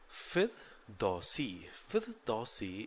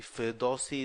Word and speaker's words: Firdausi: Firdausi, it rhymes as Fauzi.